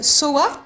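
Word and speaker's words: Sowa: Soa, mon nom, Ouais. qui s'écrit S-O-W-A, ça veut dire la chouette en polonais.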